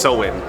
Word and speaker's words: Samhain: It's over 2,000 years old, and it was originally pronounced Samhain.